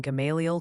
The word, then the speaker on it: Gamaliel: They're gently reminding us it's Dardanelle in Arkansas, and apparently the L is silent in Gamaliel, Kentucky, making it Gamaliel.